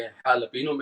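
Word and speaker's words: jalapeño: पे साइलेंट होता है, जैसे कि jalapeno में jalapeno नहीं कहते, इसमें है because H sorry J silent है, और फहीता में J साइलेंट है, तो फहीता होता है, उसमें फजीता।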